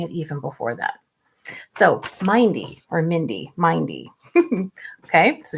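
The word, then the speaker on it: myndy: There's a Middle English word that's not used anymore called mindy. It's spelled like this, M-Y-N-D-Y, and it means to be mindful.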